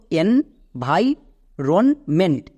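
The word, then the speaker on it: environment: Next V আই কি হবে? ভাই। অনেকে এখানে ভি করে দিচ্ছ। বাট ভি হবে না। ভাই হবে।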